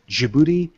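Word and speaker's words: Djibouti: we're going to specifically thank Colombia Greece Armenia jibuti and Malta yes I actually pronounced it correctly jouti DJI how the hell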